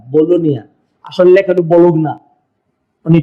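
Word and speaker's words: Bologna: হ্যাঁ, উচ্চারণ বলুগনা, জি দিয়া নেন, বলুন বলু, জিটা উচ্চারণ করে না, বলোনিয়া।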